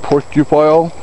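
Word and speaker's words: Porcupile: just my name last name spelled p o r c u p i l e pronounced pupile my uh Yahoo is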